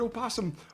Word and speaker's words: opossum: silent in the word opossum aasum and aasum correctly refer to to the Virginia opossum wait a minute see this is the opossum can be pronounced with its first syllable either voiced or silent what the [ __